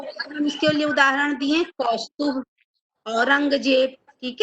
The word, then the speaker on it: कौस्तुभ: अब ए को हमने हटा दिया, नहीं तो क्या हो जाता? कौस्तुभा, कौस्तुभ।